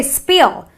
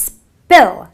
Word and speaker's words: spill: I have a spill. I don't say spill. It's a short sound, an eh sound. So spill. It's spill.